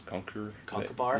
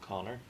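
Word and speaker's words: Conchubar: Connor spelled with a C-H-U-B-A-R, like C-O-N-C-H-U-B-A-R. Oh yes, I have seen that way. Yeah, I always thought that was Conkerbar. Yeah, Conkerbar. I haven't seen that one. Connor.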